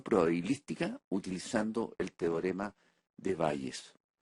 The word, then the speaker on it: Bayes: utilizando el teorema de Bayes o el teorema de Bayes si lo pronuncian en inglés. De ahora en adelante yo diré Bayes.